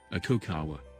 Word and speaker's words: Aconcagua: Sir George Everest despite Everest subjection z' aconcagua Spanish pronunciation a cacao WA is a mountain in the principal Cordillera of